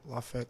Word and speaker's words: LAFE: Go check out our clothing line, LaFette Clothing, on all social medias, Facebook, Instagram, Twitter, from there. It just says it's spelled LAFE LFA, just Okay. like it sounds. Cafe, but with an L.